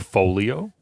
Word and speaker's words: Folio: And then after those three started and originated the band, they were later joined by another guitarist and drummer, that being Nick Folio, like Portfolio.